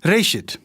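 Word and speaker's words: רֵאשִׁית: Gênesis vem de uma palavra hebraica, que é pronunciada Reshit, e significa simplesmente início.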